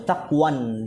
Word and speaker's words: taqwan: Wa taqwan di sini bacanya ya, karena enggak ada alif lam.